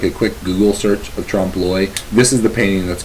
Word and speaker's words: trompe-l'oeil: Another term that I think is important to discuss is a term called trompe-l'oeil, and that's how you pronounce that. It's not trompe-l'oeil, it's trompe-l'oeil.